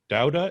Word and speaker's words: Dauda: number 56 and i'm here with mr douda is that how you pronounce it yeah that's right yeah you got